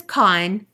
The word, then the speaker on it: Khan: My name is Khan, pronounced like Genghis Khan or Benedict Cumberbatch's character in Star Trek.